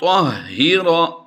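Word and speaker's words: طَهِّرَا: व इस्माईल अन तहिरा। ताह नहीं करेंगे, ता नुक्तों वाला होता है और ये है तो। तहिरा बैतिया लित्ताइफीन।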